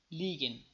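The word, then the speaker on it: liegen: تلفظ میشود میشود میشود مثالایش لیگن لیگن حرف ا خوانده نمیشه حرف ای کشیده یا طویل تلفظ میشه لیگن لیگن دروغ گفتن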